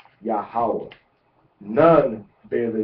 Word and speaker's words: Yahawah: Yahawah is pronounced by us as Yahawah without any vowel points.